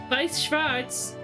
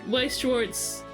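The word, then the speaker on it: Weiß Schwarz: We Schwarz, but knowing German and knowing that it's pronounced Vice, but it's like the name of the card game. So, like if you said Vice Schwartz, people would be like, "What?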